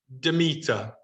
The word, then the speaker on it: Demeter: Helping me with the pronunciation here. Hermes. Well done. Hades. Athena. Hera. This one. Demeter.